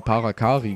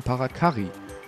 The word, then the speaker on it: Parakarry: den Namen nicht aussprechen früher habe ich immer parakari gesagt Kari das a lang ausgesprochen aber eigentlich sind jetzt zwei R deswegen müsste man es kurz aussprechen deswegen parakari al ist so wie